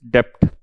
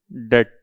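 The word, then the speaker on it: debt: B silent होता है, कई बच्चे फिर याद दिलाते हैं सर बी साइलेंट है ना, ठीक है। तो हम लोग कोई इंग्लिश के टीचर तो है नहीं, हम तो अकाउंट्स के टीचर हैं, लेकिन फिर भी डेट है ना।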